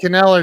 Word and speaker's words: Kneller: Yeah, Chad Kneller, it's good to see you, brother. And that's how you say his name. I'm like, dude, isn't the K silent like knife? He's like, no, it's knife.